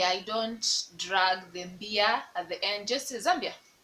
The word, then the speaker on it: Zambia: don't say zombie i don't drag them beer zambia zambia zambia zambia zambia zambia zambia zambia zambia zambia